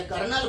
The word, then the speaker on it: colonel: कर्नल मतलब क्या, positive ions atom का जो होता है उसको कर्नल बोला जाता है, KERNAL, मिलिट्री वाला कर्नल नहीं, वो कोलोनेल स्पेलिंग है उसका, COLONEL, या कर्नल बोलता हूं।